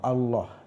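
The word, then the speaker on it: الله: walaupun pronounce-nya pronunciasa nya pengucapannya itu beda di kalangan kawan-kawan Kristiani di lafazkan diucapkan sebagai Allah ya dengan ltv kalau di dalam Islam Muslim itu dilafadzkan tebal Allah ya Allah jadi tidak ada masalah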